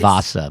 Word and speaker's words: Wasa: can't say her w's that's why she called it vasa but i know what she pronounced it like that in scandinavia yeah it's not good